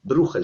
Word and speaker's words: Bruegel: como puede ser el brugel o bruegel brugel se pronuncia en holandés o flamenco ese cintank y es